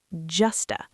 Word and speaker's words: just to: Just to often sounds like justa. Like just to make sure. Exactly, but clear is okay too.